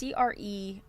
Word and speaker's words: Crerar: I don't know how to pronounce her last name. It's Crerar.